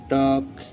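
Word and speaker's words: talk: এইচ এ এল এফ হাব টি এল কে টক পি এ এল M palm guys মানে দোয়া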